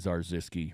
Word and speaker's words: Zarzyski: Paul Zarzyski, Zarzyski rhymes with bar whiskey.